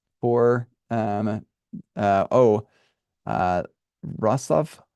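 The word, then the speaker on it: Wrocław: um uh oh uh rosov I think is how you say this uh it looks like R claw but it's like rosov or something like that um but uh anyway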